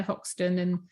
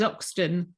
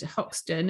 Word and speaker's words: Hoxton: I didn't know that the place was actually spelt with an H, because they're East End. You know, fog limey, salt of the earth governor and all this business, you know. And I thought it was Oxton, but it's only in